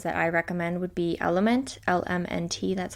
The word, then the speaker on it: LMNT: You can, use whatever brand you already have, or the ones that I recommend would be Element, LMNT, that's how it's spelled.